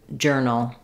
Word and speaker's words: journal: In this video, we'll look at how to pronounce journey and journal. So both of these words are spelled with the letters O-U-R and they just say the sound, like in earn or early.